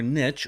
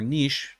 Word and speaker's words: niche: other video, but like picking your niche or niche, depending on where you are located, it's pronounced differently.